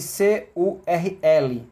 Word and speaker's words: curl: Língua lá atrás, no R, cur, desenrola com L.